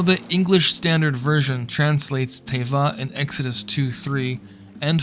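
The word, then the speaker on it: תבה: by means of an ark in Hebrew it's pronounced the word is Tava Genesis 6:14 some may be surprised to learn that Moshe Moses was also saved from a watery death in an arc Tava in Hebrew Exodus 2 uh: 3 and 5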